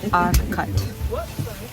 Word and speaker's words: Urquhart: It's pronounced Urquhart, not whatever I said just now. It's Urquhart.